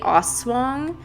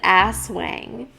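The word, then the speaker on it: aswang: know like it was it's called the oswang but i said ass wang and you did not i did i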